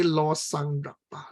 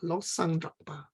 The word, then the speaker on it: Lobsang Drakpa: Well, we used to write the B, but this B is silent. Okay, so we don't read Lobsang, but we say Losang Drakpa. Losang Drakpa.